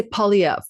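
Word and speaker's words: Poilievre: name poly poier po well it's it's po po in French po po po but in English just say POV p o l l e v like POV like Evo and you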